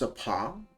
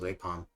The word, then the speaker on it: Apam: Here is one of their latest products, water from Sumeru's Apam Woods. Oh, it's a palm? I didn't realize that's how you pronounce it. I thought it was Apom, like the Pokemon.